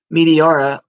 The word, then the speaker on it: Meteora: Meteora off the top rope, through Joe Doring, through Eddie Edwards, took them all out of the match.